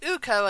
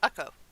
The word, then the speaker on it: Ukko: Not Uko, as I pronounced it before, but Ukko.